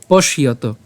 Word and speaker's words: পশ্যত: উচ্চারণটা কেমন হবে? পশ্যত, পশ্যত মুনে।